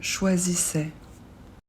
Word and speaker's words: choisissais: l'imparfait a i s attention a I on prononce e et on ne prononce pas le S je choisissais tu choisissais